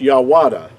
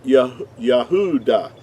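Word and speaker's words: יהודה: y it will not it would not be pronounced yahwada it would have to be pronounced yahudah the only difference between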